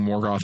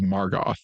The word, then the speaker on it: Morgoth: And also pronouncing Morgoth as Margoth.